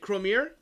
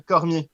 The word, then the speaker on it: Cormier: Is it Cromier? It's in fact, I'm French Canadian, so my first language is French. So you say Cormier. Cromier. Cormier.